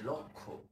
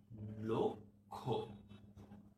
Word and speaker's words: লক্ষ্য: এটা সঠিক না। এটার সঠিক উচ্চারণ হচ্ছে লক্ষ্য। দেখেছো? ল, তারপর কয়ের একটা হসন্ত আছে, যাতে আমরা লোক এই জায়গাটায় থামি, এখানে লক্ষ্য, এইভাবে আমাদের উচ্চারণ করতে হবে।